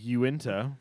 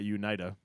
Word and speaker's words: Uinta: Yeah, so I'm drinking Uinta, which I realized today is not Unita.